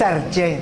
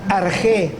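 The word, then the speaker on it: ἀρχή: que lo sepamos se pronuncia no es arché Pues eso parece no sé cosas raras no arjé es la palabra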